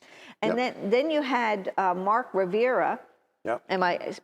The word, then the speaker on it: Rivera: And then you had Mark Rivera. Yep. Am I pronouncing that Mark right? Rivera, yep.